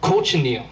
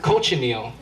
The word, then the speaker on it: cochineal: It's actually an insect, and it's called cochineal. And ever pronounce that word? Cochineal. Cochineal.